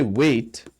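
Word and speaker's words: weight: When you say wait, the G is silent here. You just say, and the H is silent. You just say W-E-I-T. That's the pronunciation, wait.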